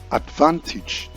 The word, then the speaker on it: advantage: This word is correctly pronounced advantage, and it is a noun. Not advantage, but advantage.